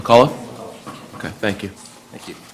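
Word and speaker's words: McCullough: you help me with the last name m Mulla okay thank you thank you could you spell that yes uh MCC u l l o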